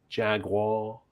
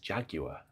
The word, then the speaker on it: Jaguar: Jaguar. Is that right? It's just Jaguar. Jaguar, like garage.